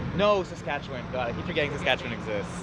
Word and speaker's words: Saskatchewan: Another province whose pronunciation I've learned since filming this video, Saskatchewan.